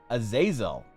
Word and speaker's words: Azazel: It's pronounced Azazel. The XIX is the Roman numeral 19.